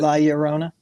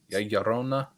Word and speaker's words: La Llorona: La Llorona. La Llorona, but I'm not going to do it. I tried my best. You just pronounced it perfectly. That's what 3 years of high school Spanish will do for you, Sam.